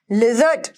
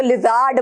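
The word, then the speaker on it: lizard: लिजर्ड, लिजर्ड, लिजर्ड, अब आर है, अरे आर का तो साइलेंट बोलना, पहले तो लिजार्ड बोल दोगे आप, नहीं, लिजर्ड, लिजर्ड, लिजर्ड बोलो ना, लिजर्ड।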